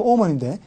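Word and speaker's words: omen: 그래서 우리는 지금 오멘, 영어 발음 오먼인데 오멘의 형용사 아미너스가 불길한으로 쓰인다는 거.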